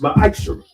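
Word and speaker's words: מעשר: Means 10th in Hebrew, and is pronounced ma'ashra.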